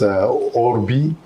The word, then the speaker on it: Orbi: It's Orbi, referring to the orbit, and the Urbi as in the urban or urban city of Rome.